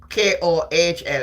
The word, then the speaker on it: kohl: Kohl. How you pronounce it? Kohl, I say kohl.